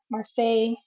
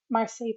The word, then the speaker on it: Marseille: believe it's the marsai marseille marseille tarot or satay i i pronounce it like versailles because i've been to